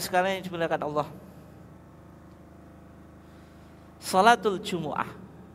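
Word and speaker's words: جمعة: Salatul jumuah. Jadi bisa disebut jumuah atau bisa dibaca jumuah, bisa dibaca apa? Jumah. Semuanya betul ya.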